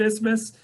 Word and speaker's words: isthmus: people don't even know how to pronounce the word ismus but it is fortunate to have that isthmus that nice piece of land got like winona uh